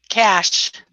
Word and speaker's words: Cache: Cash. It's pronounced cash.